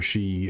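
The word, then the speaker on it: Sidhe: the way that we kind of describe our She is spelled slightly differently.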